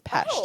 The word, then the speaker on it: Pest: Technically, it's Pest is how you say it.